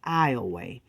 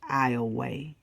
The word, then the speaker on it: Ioway: last known movements near ioway now I know y'all think that's Iowa it's not pronounced like the State Iowa Louisiana pronounced it as ioway okay Louisiana and a